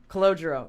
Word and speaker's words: Calogero: Calogero. Oh, it's the best. I have to say it again. How do you say it? Calogero. Yeah. So Calogero has a channel, Where We Go When We